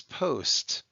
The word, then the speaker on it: post: So you might remember that when we talked about closed syllable exceptions, like we had the word post, even though it looked like past, we said it was post.